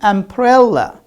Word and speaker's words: umbrella: And you said if we have ba sound preceded by ma sound, then it becomes silent. And now here we pronounce it. What's the story? You forgot part of the story. And I told you, these are not at the end of the word. These are in the middle of the word.